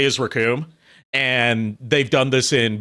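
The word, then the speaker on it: Recoome: heard him say is Raccoon, and they've done this in both uh Funimation and Ocean Dubs is the the name's Raccoon, it rhymes with Doom, and you'll be hurting all too soon.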